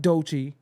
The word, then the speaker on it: Doechii: what you know so you got DOI that's how you pronounce her name who's a great artist